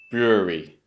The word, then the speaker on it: brewery: It's tempting here to kind of break this into 3 syllables, but you need to remember there's 2 sounds. brewery, not brewery, because often students take the BRE or the BREW, but it should be brewery, brewery.